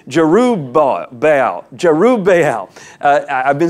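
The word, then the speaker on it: Jerubbaal: Abimelech the son of Giroux bobble went to Shechem okay a couple of things there and I said Giroux bobble wrong it's Giroux bah bale Giroux Bay hell I've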